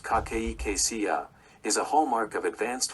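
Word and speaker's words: cachexia: The severe form cardiac cexia pronounced kakeia is a hallmark of advanced heart failure representing significant whole body muscle and weight loss.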